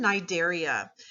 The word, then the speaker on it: Cnidaria: is going to be phylum Cnidaria the C is silent so these are the